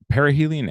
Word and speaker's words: perihelion: You got perihelion correct. I did get perihelion correct. Thank you. So, it's pronounced uh perihelion and aelion.